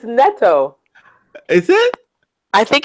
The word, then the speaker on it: Nitto: And yeah, because I think it's Nito, because I think what they said was don't pronounce it like there's an H.